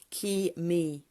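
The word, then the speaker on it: K'ee Mee: Pronunciation, K-E-E, apostrophe, space, M-E-E, Ki-me.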